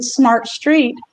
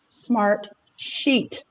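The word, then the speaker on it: Smartsheet: name of the company i kept saying smart street but it's actually smart sheet i don't put that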